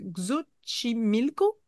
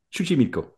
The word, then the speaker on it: Xochimilco: Donc, c'est situé au sud de Mexico dans les rivières, les canaux de Xochimilco. C'est une toute petite Chuchimilco. île. Comment? Chuchimilco.